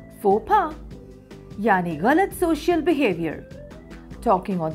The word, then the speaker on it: faux pas: word used in English don't say fox pass yes fopa yaniganot social behavior talking